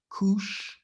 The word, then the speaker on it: Kush: down this name koosh you see how it's pronounced koosh and you see here kush equals what all right so whenever the bible